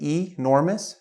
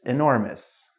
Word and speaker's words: enormous: word uh enormous now this one has two acceptable pronunciations that you might hear on the street some people say enormous so you can say enormous some people like myself we say enormous enormous okay next one we